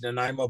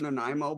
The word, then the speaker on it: Nanaimo: I'll tell you what was good was Rocky's Nanaimo bar cheesecake recipe.